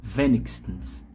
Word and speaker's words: wenigstens: Interessante que a sílaba tônica muda, ó. A primeira tá aqui no início, mindestens, no i. A segunda palavra aqui tá no i também, ó, só que na outra sílaba, né? Zumindest. E na última palavra tá no comecinho aqui na letra e, ó, wenigstens.